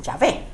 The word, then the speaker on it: Yahvé: O sea, no había en hebreos, no hay vocales. Pero para que entonces pudiera tener algún sonido, le decían Yahvé. No sé cómo se dice eso en hebreo, pero es Yahvé.